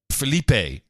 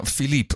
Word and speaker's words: Philippe: By the way, I love how Shepard Smith thinks that you need to pronounce it like he's Mexican. Felipe. No, Philippe, okay? It's French.